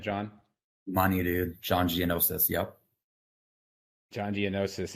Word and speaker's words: Gianniosis: and mortgage sales business today I have John Geonosis I pronounced that correctly right John money dude John giannosis yep John Geonosis it's it's spelled kind of